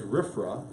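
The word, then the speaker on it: RFRA: the Religious Freedom Restoration Act the acronym is rifra which is pronounced rip rock riff from okay not to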